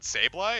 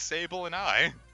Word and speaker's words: Sableye: What, Sableye? It's Sable and I. Oh, that's so much better.